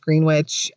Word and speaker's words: Greenwich: all of the locals state that it is pronounced greenwich and greenwich new york is actually the village